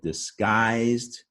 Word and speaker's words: disguised: is the stressed syllable disguised i've hidden the u there to remind you that it has a silent u g u is a spelling but you don't hear the you hear the i sound disguised two syllable word